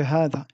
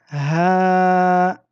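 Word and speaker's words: هذا: Hada se prononce hadha. Vous voyez ici, j'ai écrit le alif du med, mais s'écrit hadha. Donc ici, il y a une lettre prononcée qui ne s'écrit jamais. Ceci est très très rare dans la langue arabe. Il y a très peu de mots où on prononce une lettre qui n'est pas écrite, contrairement au français.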